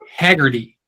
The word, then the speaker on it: Haggerty: us named hegarty it's h-a-g-g-e-r-t-y and it's and you know technically that is Haggerty and everybody says hegarty and no she's saying it Hagerty and she said is